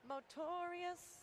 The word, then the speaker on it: Motorius: Wait, you have to say his name right. It's Motorius.